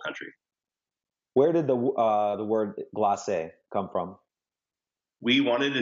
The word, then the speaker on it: glacé: I think we were saying glace many times. And a French person actually told us, you know, that's glacé. There's an accent.